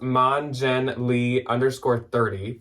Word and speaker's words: monjenle_30: Monica's username on Poshmark, I believe, is pronounced monjenlee_30, but I will spell it out. And otherwise, of course, it is the first link below, so you don't even need to type it in yourself. But it is MONJENLE_30.